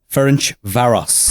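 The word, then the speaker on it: Ferencváros: you've taught me how to say this club Finch Varos.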